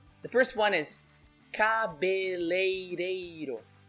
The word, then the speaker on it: cabeleireiro: So this, in the middle of the word, you see leirei. That's difficult to pronounce. Even some Brazilians would pronounce it wrong. I'm calling out some Brazilians now, and I'm going to say they pronounced cabeleireiro. That's wrong. Cabeleireiro. Correct.